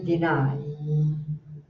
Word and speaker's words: deny: Esse i mais estruturado, ele fica deny.